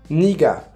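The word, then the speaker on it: 네가: On ne dit pas naga, mais nega. On ne dit pas 저가, mais 제가. Et enfin, on ne dit pas noga, mais niga. Et ça se prononce bien niga, même si ça s'écrit avec un e.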